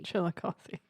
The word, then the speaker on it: Chillicothe: instead of an i so it's chiller coffee chillicothe which like to be fair not everyone pronounces the last eye in missouri as an